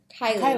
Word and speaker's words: Kiely: It's by Jason Reynolds and Brendan Kiely, I believe it's Kiely.